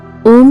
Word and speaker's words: ओम: ओम का वास्तविक उच्चारण अ ओम के बाद गूंजायमान ध्वनि के साथ समाप्त किया जाता है।